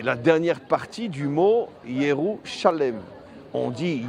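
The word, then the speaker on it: ירושלים: Shalem qui est les la dernière partie du mot Yérou Shalem. On dit Yeroualaim. Bon, je vais pas vous faire un cours en hébreu mais ça se prononce Youaïim mais en dans l'écriture il est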